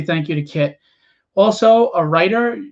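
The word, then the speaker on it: Kiet: the community that's uh kit and guy it's pronounced kit but it's spelled k-i-e-t n as in the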